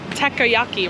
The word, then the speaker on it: takoyaki: It's actually takoyaki, right? But I call it takayaki.